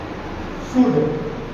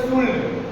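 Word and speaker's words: should: कुड, कुड, शुड, इसमें L silent होता है। हम कुल्ड, कुल्ड, शुल्ड कई विद्यार्थियों को पढ़ते हुए देखे हैं, एल नहीं बोला जाता है, एल साइलेंट है।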